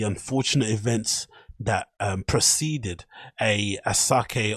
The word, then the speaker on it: Asake: events that preceded a asake or I think it's pronounced ashake if I'm not if